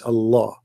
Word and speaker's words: Allah: It's just you have to say the L twice. Allah, you know, Al-Rahman, right?